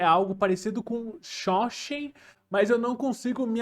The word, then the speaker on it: Seanchan: consigo me acostumar com a pronúncia correta do nome deles então acaba o pronunciando o nome deles como se acham mesmo como se eu tivesse lendo a palavra em português mas quem são eles